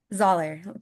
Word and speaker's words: Zahler: Zahler, kind of like the Z with a Zahler. dollar. I like it. Z with the dollar.